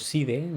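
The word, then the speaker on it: Sidhe: Y estas comillas van a ser mucho más claras cuando hablemos de los Shis. O los Side, si lo pronuncian Side, los nobles.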